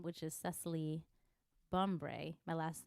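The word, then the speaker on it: Bumbray: just search my full name which is cecily bombre my last name is spelled b-u-m-b-r-a-y but everywhere else for just the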